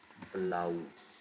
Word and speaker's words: blau: When A and U are together, when they come together, how they are going to react. It is always going to be pronounced as ow in in mm, mm, mm, what is the English word we have? Um, Macau. So German word or Macau. Going to pronounce ow. Example: blau, grau, ow, ow.